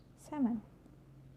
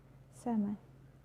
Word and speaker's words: salmon: So the letter L can be silent too. It's quite common when you look to example, like could, should, talk, walk, york, half, calf, salmon.